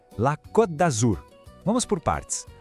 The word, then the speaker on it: Côte d'Azur: A pronúncia correta é La Côte d'Azur. Vamos por partes. A palavra côte, com esse acento, tem um som de O bem fechadinho, sabe? Côte. Já em Azur, o segredo está no U francês.